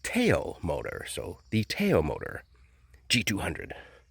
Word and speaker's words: Tao Motor: Actually, I learned this week that it's pronounced Tao Motor, so the Tao Motor G200.